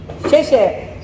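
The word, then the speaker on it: 谢谢: Sheshe.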